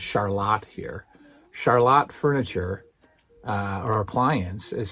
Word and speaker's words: Charlotte: Charlotte Furniture, and yes, it is pronounced Charlotte here.